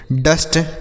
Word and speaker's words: dust: उसके बाद DUST, डी से ड हो गया, यू का उच्चारण अ के रूप में, एस से आधा श, टी से ट, यह हो गया डस्ट।